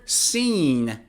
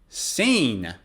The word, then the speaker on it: scene: is silent c now in the word scene for example c is silent scene or i i really